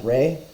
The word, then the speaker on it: Ra: manifestations phases or forms Russia be pronounced as Rey hence the alternative spelling Rey rather than raw the meaning of Ra's